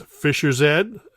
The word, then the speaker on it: Fish's Head: album called fish's head remember how it's Fisher's head because it rhymes with fish's head this continues along the